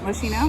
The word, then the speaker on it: Moschino: I have more in my car from the first store, but this is a Moschino, right? That's how you say it, Moschino.